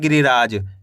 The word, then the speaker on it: गिरिराज: ग में छोटी इ की मात्रा है गि। र में छोटी इ की मात्रा ऋ र में आ की मात्रा रा ज। तो मिलके बन जाएगा गिरिराज।